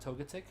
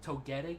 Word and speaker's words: Togetic: you go like um I've heard multiple pronunciations on the the Pokemon that Togepi evolves into I personally say it totic but there was somebody who was like Togetic and somebody who was like totic and I don't remember how this person would say it I always went totic but if somebody pronounced it